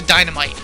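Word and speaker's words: Dynamyte: other guy is a dynamite um and instead of spelled like a normal Dynamite it's m-y-t-e it's like bite like they did before so what he's gonna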